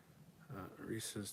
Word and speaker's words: Reese's: Reese's does not rhyme with feces.